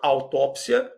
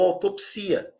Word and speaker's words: autópsia: Da mesma forma, autópsia ou autopsia.